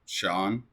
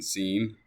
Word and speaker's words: Sean: Hi, I'm Sean Sinclair. That's how you say my name, Sean. Please refrain from saying scene. It's definitely not scene.